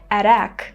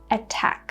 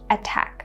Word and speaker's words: attack: So the only way to pronounce this word will be attack. So we're pronouncing the T sound just like in British English, attack.